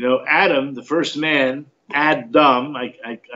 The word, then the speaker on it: Adam: Adam the first man Adam pronounced the D like a t Adam Adam not Adam but